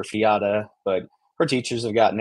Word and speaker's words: Fiadh: My youngest daughter's actually, her name is Fia. It's Fiadh, and so we've had a heck of a time, making sure that everyone knows it's not Fiad or Fiata, but her teachers have